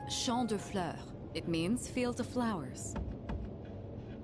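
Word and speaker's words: Champs de Fleurs: just like I imagined Champs de floors how do you say that it's Shand FL it means field of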